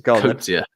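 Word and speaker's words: Coetzee: It's Kurtzia.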